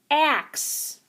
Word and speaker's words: axe: let's take a look do you hear that x sound at the beginning ax where do we hear that x sound axe that's right it comes at the end just like fox axe all right you're